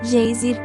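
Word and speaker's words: Geysir: 10 toesas o gêiser termo que os islandeses pronunciam gêiser e que significa furor ergue-se majestosamente em sua extremidade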